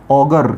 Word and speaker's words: auger: दोनों के दोनों होमोफोनस शब्द हैं, दोनों का प्रोनाउंसिएशन होगा ऑगर। क्या होगा, ऑगर, ये इसका प्रोनाउंसिएशन होगा दोनों शब्दों का, ठीक है।